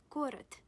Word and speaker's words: город: However, this consonant is voiced and is the last letter of the word. That's why you pronounce it as voiceless. T.